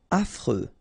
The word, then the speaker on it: affreux: Affreux. Final X not pronounced. And then you get this fr. Freux. Affreux.